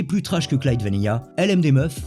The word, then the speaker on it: LMDMF: trash que clyde vanilla lm des meufs c'est ainsi que se prononcent l'acronyme est une émission quotidienne